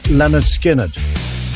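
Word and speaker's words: Lynyrd Skynyrd: skinnard released their debut album called pronounced Leonard skinnard this week in 1980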